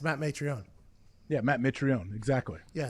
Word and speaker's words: Mitrione: Yeah, you know Matt Mitrione is It's m i t. You say I think you pronounce it like there's an a in there. Yeah, it's Matt Mitrione.